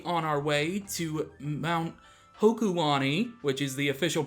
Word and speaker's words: Hokulani: This time, we are going to continue exploring Mali City on our way to Mount Hokulani, which is the official pronunciation.